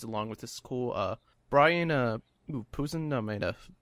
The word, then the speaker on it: Posehn: But he's pretty awesome, so just the fact he's along with this cool Brian Posen, I might have butchered that. Scott Porter. Brian Posehn.